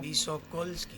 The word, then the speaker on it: Visokolskis: Bueno, bueno, queremos saber cómo se pronuncia el apellido primero. Visokolski. Visocolsk.